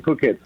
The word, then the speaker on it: Phuket: some work but I live in Thailand in cook it oh you live in Thailand and that's how you pronounce it it yes and all Americans have